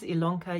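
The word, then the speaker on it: Ilona: Elona my name is Elona yes it's spelled with an i but pronounced with an e and welcome to my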